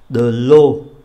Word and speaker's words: eau: De l'eau, nước. Eau, a u, đọc là ô, de l'eau là nước.